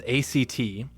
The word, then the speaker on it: ACT: Acceptance and commitment therapy, known as ACT and pronounced like the word ACT, is a psychological framework that helps individuals build psychological flexibility.